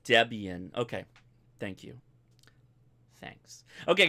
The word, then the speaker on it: Debian: hold on let me do this um it's pronounced Debian it's pronounced Debian okay thank you thanks okay guys I'll to